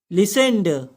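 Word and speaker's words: listened: अब third form कैसे लिखेंगे, लिसेंड, LISTEND, लिसेंड। तो हम सुन चुके हैं, वी हैव लिसेंड। यहां पर टी साइलेंट है, तो हम सुन चुके हैं, वी हैव लिसेंड।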